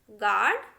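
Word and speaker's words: guard: The letter you इज not pronounced when it comes after ji and before A vowel in a word. देखिए यदि जो है यू जी के बाद आए और यू किसी वोवेल के पहले हो, उस कंडीशन में हमें यू को साइलेंट रखना है। देखिए तब क्या हो जाएगा, ये गाइड, गेस्ट, गार्ड, गेस, इस तरीके से हो जाएगा। हमने यू को कहीं पर भी नहीं पढ़ा।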